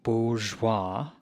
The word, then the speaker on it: bourgeois: Now, for those of you who may not know, a bourgeois, it's pronounced bourgeois, it's defined by the American Heritage Dictionary as